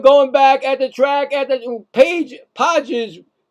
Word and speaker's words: Pages: Podges, should be Pages, but Podges makes the catch. I mean, because it is spelled P-A-G. No, I get it. Just playing. That's the way they want to say it.